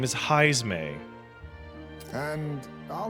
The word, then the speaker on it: Heismay: how do you pronounce the rat's name? He is a bat person, Paige, and his name is Heismay.